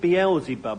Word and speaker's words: Beelzebub: I would pronounce it Beelzebub.